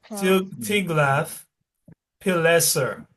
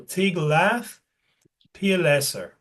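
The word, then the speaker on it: Tiglath-Pileser: to to meet Ty The Ty the first part has two syllables. Tiglath Tiglath Pileser. Okay, that's a bit of a hard one. Tiglath Pileser. Last this last part has three syllables. First part two syllables. Okay, so Tiglath Pileser.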